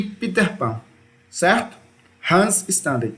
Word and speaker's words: Hans Staden: Aventuras de Hans staden e Peter Pan certo Hans staden é a pronúncia certa aí e aí percebam aqui ó